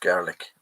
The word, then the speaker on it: Gaelic: Scottish people speak Gaelic, pronounced garlic.